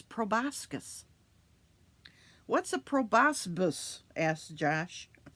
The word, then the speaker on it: proboscis: its proboscis what's a proboscis asked Josh it's pronounced pro boss kiss and it's just like